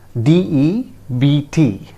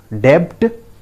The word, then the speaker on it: debt: The word is spelled as DEBT, as you can see here, DEBT. How do you pronounce it? Debt? No, friends. B is silent here, remember.